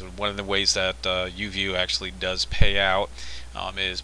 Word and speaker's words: Uvioo: Even though it looks like Uvoo, it's actually pronounced Uvioo. Uvioo.